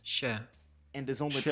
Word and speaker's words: się: For example, this word is normally pronounced się, and is only Się.